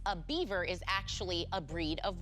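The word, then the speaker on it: Biewer: Though its name is pronounced like that critter that builds dams, a beaver is actually a breed of what?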